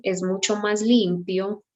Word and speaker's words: limpio: Limpio, again, we have I-O, and you have to pronounce both.